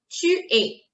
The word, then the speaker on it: tu es: je suis, je suis, tu es, tu es, tu es, tu es, tu es, tu es, tu es. It's like the alphabet A, that's the sound.